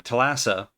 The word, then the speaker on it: Thalassa: Thalassa.